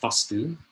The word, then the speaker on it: Vastu: Vastu with one A, pronounced Vastu, a short A, is that eternal energy force that is omnipresent.